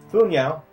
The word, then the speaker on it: Fu Nihao: Fu Nihao. At least I think the H is silent. And the Shadows.